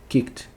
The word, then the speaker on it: kicked: Estranho, né? Mas sim, é dessa forma. Kicked. Não vozeado, coloca um T.